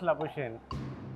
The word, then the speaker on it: Labuschagne: Marnus Labuschagne. And you have pronounced it correctly as far as Australia is concerned, but not as far as South Africa is concerned. Marnus Labuschagne.